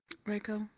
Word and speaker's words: Reiko: Reiko. Reiko. Okay. Um, how do you spell it?